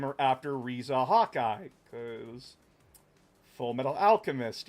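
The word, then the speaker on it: Riza: I tried to call her Reza, but my dad is like, "That's spelled Risa." And I'm like, "It's Reza, dad." Cuz I wanted to name her after Reza Hawkeye cuz Full Metal Alchemist, you know.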